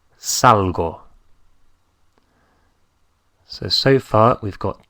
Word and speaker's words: salgo: is sal sal but I go out is salgo salgo s a l g o Salo so so far we've